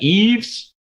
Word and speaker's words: Yves: That's the way you pronounce that. Yves.